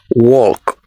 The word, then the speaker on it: walk: gnome the next one have you been pronouncing this as walk it is wrong the L is silent so it is walk the next one this